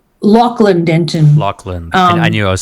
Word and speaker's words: Lachlan Denton: And I know you said Lachlan Denton. It's Lachlan Denton.